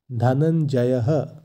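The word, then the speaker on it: ধনঞ্জয়ঃ: যদি বিসর্গ থাকে সংস্কৃতে সেই বিসর্গের জায়গায় হ এর উচ্চারণ হয় তাই এক্ষেত্রে শব্দটির উচ্চারণ হবে ধনঞ্জয় তার সাথে হ ধনঞ্জয়হ এই শব্দের অর্থ ধনঞ্জয়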